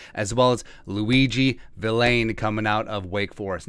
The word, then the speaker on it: Vilain: as well as Luiji Vilain coming out of Wake Forest. Now, it's spelled Villain, but it's pronounced Vilain.